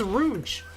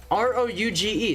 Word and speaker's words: Rouge: It's Rouge. R-O-U-G-E. That's pronounced Rouge. Like the freaking Sonic character.